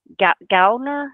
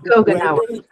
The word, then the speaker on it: Gogenauer: Gaulner, is that correct? So Gogenauer. Gogenauer?